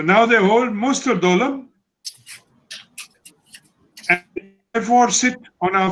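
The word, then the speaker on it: Doklam: And they have claimed 3 kilometers south of the tri-junction on the Dolom Plateau. Everybody calls it Dokalam, but the correct pronunciation is the Dolom Plateau.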